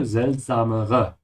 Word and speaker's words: seltsamere: Yeah, be careful with the last two R's here, seltsamere, which means stranger things.